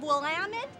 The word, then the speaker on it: Willamette: Fair and I am with Michael Compton of Willamette Valley High Company nicely done you pronounced it perfectly you did a good job